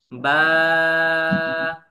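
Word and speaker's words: باء: করেন আলিফ আলিফ আলিফ আলিফ একসাথে একসাথে আমি বলার সাথে সাথে আলিফ আলিফ এক আলিফও টান দেওয়া যাবে না হ্যাঁ দ্রুত পড়তে হবে মুখের খালি জায়গা থেকে উচ্চারণ হবে বা বা এক আলিফ টান দিয়ে ঠিক আছে দুই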